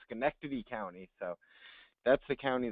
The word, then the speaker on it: Schenectady: assistant district attorney and the way to pronounce this pronounce this county is schenectady county uh thank you sorry